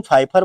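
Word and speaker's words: Pfeiffer: पावलिन फाइफर क्या लिखा है? इसे पी साइलेंट रहता है। इसका ध्यान बनाए रखना। पावलिन फाइफर बोलते हैं।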